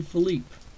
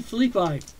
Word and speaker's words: Phillippi: in the 1st inning, Deacon Philippe, as they pronounce it here, is not Deacon Philippe. His last name is actually Deacon Philippi, or Phillippi.